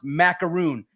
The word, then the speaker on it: Maakaron: got belts here and my last name is pronounced macaroon like the cookie macaroon talking uh